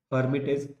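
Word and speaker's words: Lhermitte: I'm writing L here, but please remember L is silent, so we will call it as Hermitage sign.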